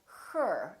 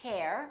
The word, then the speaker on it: her: let's look for example ER as in words like her h ER we don't say hair we say her I love her I